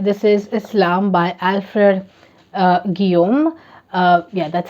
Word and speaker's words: Guillaume: This is Islam by Alfred Guillaume. Yeah, that's how you pronounce it, and I know that because I read Giovanni's Room.